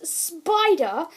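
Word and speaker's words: Spyder: have this ghost which his name is spider but it's spelled s-p-y-d-e-r which is weird and he has like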